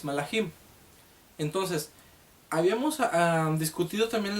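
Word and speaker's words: מלאכים: La palabra, como ya lo aprendimos en la parashá anterior, la palabra mensajeros en el hebreo se pronuncia malach y el plural es malachim.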